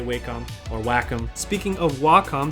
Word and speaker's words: Wacom: how to pronounce waka i think the the people that actually own the company and run the company say wacom so that's what i say i don't really like